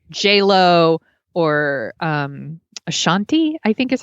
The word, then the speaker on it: Ashanti: slower hip hop songs with like J-Lo or Ashanti, I think is how you pronounce her name, you know, and it's just like, what's my name?